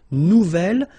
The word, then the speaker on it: nouvel: J'aime mon nouvel ordinateur. Nouvelle, phonetically, you pronounce it like the feminine version, but then you write it N-O-U-V-E-L.